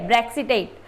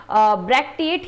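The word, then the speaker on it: bracteate: में आप मत जाइए, इसको ब्रैक्टिएट बोलेंगे तो ज़्यादा याद रहेगा, ठीक है, ब्रैक्सिटेट, ब्रैक्टिएट ही सही है।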